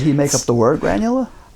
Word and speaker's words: Granula: Uh he invented what he called and uh you'll have to give me a little um leeway on the pronunciation, but it's granula.